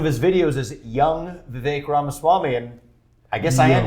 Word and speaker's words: Ramaswamy: or something else it's the fake like cake Rama Swami yeah thanks for asking I dig it well